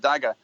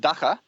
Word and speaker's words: dagger: But I just want to say, with pronunciation of the word dagger, whatever you do, don't call it dagga, because in Afrikaans you pronounce your G like a ch, Yeah.